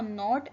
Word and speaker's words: know: टाई अ नॉट इन the rope. Tie अ नॉट इन the rope. रस्सी में गिरा बांधें. एक और वर्ड आता है यहाँ पे नो. नो का भी के साइलेंट है.